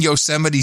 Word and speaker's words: Yosemite: the national parks and he was trying to pronounce the name of one of our national parks when they gaze upon yosemites yosemites yes towering sequoias yosemite holy crap has